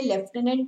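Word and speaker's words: lieutenant: कई लोग यहाँ पे जो देखो जो स्पेलिंग है ये लेफ्टिनेंट नहीं है, कई लोग इसको लेफ्टिनेंट बोलते हैं, दिस इज लेफ्टिनेंट गवर्नर, ठीक है। तो प्रोनाउंसिएशन डिफरेंट है, स्पेलिंग डिफरेंट है, तो प्रोनाउंसिएशन पे अपने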